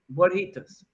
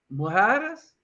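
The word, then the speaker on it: mojarra: No, mojaras, mojaras, Hold on, let me spell it. Is it MOR? What country was that in? Colombia, mojara. Hmm. I think it's a double RA. So the JAR, it's mojara.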